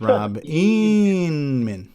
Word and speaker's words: Rob Inman: I would just like to request humbly, whenever you mention Rob Inman's name, you put the proper emphasis on the syllable and refer to him as Rob Inman.